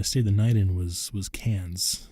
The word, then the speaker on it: Cairns: the night in was Cairns. It's spelled with an R, but the Australians don't say their R's, so they say it Cairns. We would say Cairns.